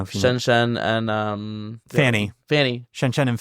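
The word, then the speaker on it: Pfannee: you shenen and um Fanny Fanny shenen and Fanny yes but it's spelled PF n n e of course it is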